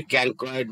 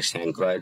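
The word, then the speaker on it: chancroid: অনেকে ক্যানক্রয়েড বলে, অনেকে স্যাংক্রয়েড বলে, উচ্চারণ কোনোটাই অশুদ্ধ নয়।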